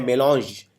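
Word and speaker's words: mélange: इसको प्रोनाउंस करते हैं मेलॉन्ज। ये फ्रेंच भाषा का शब्द है, इंग्लिश में लिया गया है।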